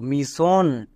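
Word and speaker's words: mission: সন পুরোটা কি দাঁড়ালো মিশন এখানে সবাই একটা জিনিস ভুল করে যে এস টাকে দুবার উচ্চারণ করে দুবার উচ্চারণ করবা না এস টাকে ওয়ার্ড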